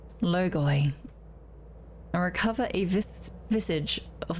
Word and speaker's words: logoi: Defeat 3 kinds of logoi? Logoi. And recover a visage of their flames. Okay. Ancient Greek for word, 나르호라나? Check. I'm actually gonna see if I'm pronouncing it right, because it's a short